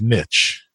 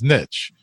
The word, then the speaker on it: niche: A word like niche, okay? An American may pronounce it as niche, but a British will pronounce it as niche, all right?